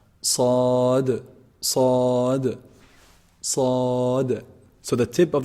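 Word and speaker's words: ص: The sad letter is a heavy letter, and it's pronounced actually from the tip of the tongue when it relies or like lies on the what? On the bottom incisors. And that's how the safir attribute comes out.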